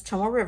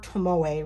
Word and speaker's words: Tomoe River: recorder and it has tomorrow paper or tomoe river paper however you want to pronounce it but unlike the hobonichi it has 68 gsm tomorrow paper uh the hobenichi only has 52.